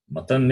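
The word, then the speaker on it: मतम्: Matam is different. Matam is opinion. Matam, Madam. If you change the pronunciation, the meaning will change.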